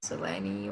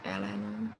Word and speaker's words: Eleni: So yeah, we just started, and it's Eleni. Is that how you say it? Yes, Eleni or Elena or Elena, whatever you.